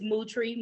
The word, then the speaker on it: Moutry: and i tell people my last name is mootree move like a cow and tree outside that's the only way